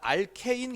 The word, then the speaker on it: 알케인: 그게 무슨 얘기냐면 이거 알칸 계열이 뭘로 바꿨냐면 알케인 계열로 바뀌었거든요.